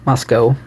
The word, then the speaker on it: Moscow: It's still in Moscow, pronounced with an O. Moscow.